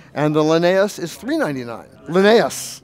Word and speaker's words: Linnaeus: the linnaeus is $3.99 Linnaeus Linnaeus and we'll have lots of fun seeing how people pronounce that word there's lots of different pronunciations but Linnaeus is the one who seems to be the most popular so we'll be happy